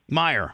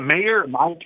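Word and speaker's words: Meijer: Did you guys There's a there's a grocery store called I don't know how to pronounce it. spelled M E I J er Meyer. Is it Mayor?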